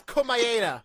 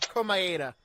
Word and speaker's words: Komaeda: I just can't pronounce it. It's hard to say. Oh, it's Komaeda. There you go, Komaeda.